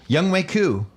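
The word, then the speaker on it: Younghoe Koo: All right, in studio, Young Wei Koo. Did I say it right? Yes, sir, you did.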